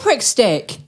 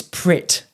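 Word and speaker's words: Pritt: Oh, you put a prick stick. What did you call me? A prickst stick. What? A prick stick. It's prit. No, it's not. Spell it out. P. I thought I had a silent C.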